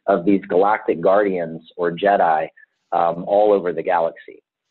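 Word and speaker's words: Djed: and it comes from the root word Jed and Jed is spelled DJ D and the Jed represents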